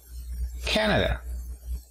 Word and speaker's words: Canada: Canadá decimos Canada. como lo tenemos aquí. Tenemos el apóstrofo al inicio, así que la mayor fuerza de voz está al inicio. Canada. Y para decir canadiense, fíjate en el apóstrofo, está a partir de la segunda sílaba. Ahí es donde vemos de levantar la voz.